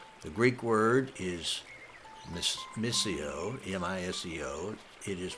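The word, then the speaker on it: μισέω: The Greek word is miseo, M-I-S-E-O. It is pronounced miseo.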